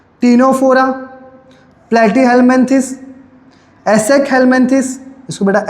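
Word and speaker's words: Ctenophora: क्या आता है बेटा टिनोफोरा बेटा सी साइलेंट है याद रखना ठीक है ना तो आप उसको सी ही पढ़ते हो सनोफोरा नहीं पढ़ोगे आप टिनोफोरा ही पढ़ोगे सी साइलेंट है ठीक है तो पोकोसी हो गया।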